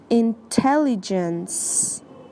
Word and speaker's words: intelligence: the pronunciation for intelligence the C at the end makes an S sound intelligence if you have trouble